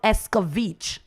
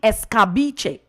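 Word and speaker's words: escabeche: jamaicans miss miss pronounce we take it on and give it a whole different spelling and call it escovich it is actually escabiche that's the real word that's it and now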